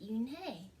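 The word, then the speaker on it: Unhei: in hey corrected it spelled UNH AI it's pronounced Yoon hae oh it's you hey the boy said like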